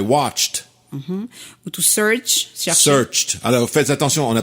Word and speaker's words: searched: Non, là, on dit bien Searched. les exceptions, enfin, on peut pas dire des exceptions, mais en tout cas, la famille des verbes qui vont se prononcer avec la sonorité T.